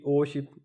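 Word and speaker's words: 오십: अब 50 ओ शिप, ओ का मतलब 5, शिप का मतलब 10, यानी कि 5 10 होंगे तो 50 बन गया।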